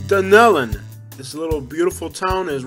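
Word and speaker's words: Dunnellon: It's pronounced Dunellen.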